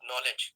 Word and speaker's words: knowledge: In English, we have so many silent words like knowledge. Okay, so K is silent here.